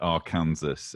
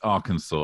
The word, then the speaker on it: Arkansas: to bring everybody can I just apologize for pronouncing it Arkansas in my episode just yeah I'm done I'm gonna try and explain why I'm British you're not gonna live that no anyway its Arkansas I recognize that now go ahead well I'm